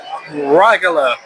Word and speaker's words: Rijeka: And that is actually how you pronounce it. Regular.